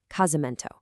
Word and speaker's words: casamento: It becomes casamento. So the golden rule here, if that S is trapped between vowels, keep that fun little buzz.